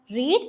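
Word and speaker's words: read: ഇനി വായിക്കുക എന്നുള്ളത് എന്താണ് റീഡ് വിവൺ ഫോം റെഡ് വിടു ഫോം പക്ഷേ എന്താണ് വായിച്ചു സ്പെല്ലിം ആണ് സെയിം ഉച്ചാരണം ഡിഫറന്റ് ആണ് വായിച്ചിട്ടുണ്ട് എന്നുള്ളതും റെഡ് എന്ന് തന്നെയാണ് വരുക ഇനി അടുത്തത് സംസാരിക്കുക എന്ന് പറയുമ്പോൾ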